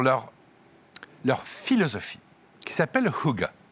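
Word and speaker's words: hygge: Mais surtout pour leur leur philosophie qui s'appelle Huga, ça s'écrit H GG. Ça se prononce Huga, semble-t-il. Si vous demandez un Suédois, c'est quoi exactement le Hugga, il sera pas capable de le définir.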